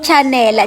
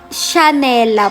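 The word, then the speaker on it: Chhanela: So kaya tatawagin siyang chanela chanela pero hindi po sh po yung pagkakabigkas parang yung sa Chanel pero chha siya ' ba So yung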